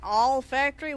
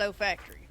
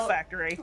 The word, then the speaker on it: olfactory: it, I'm sitting there going, you know, an all factory? What in the crap's an all factory? But Where you make the alls. So basically the L is silent, it's just olfactory, right? No, Yeah, it's well, olfactory.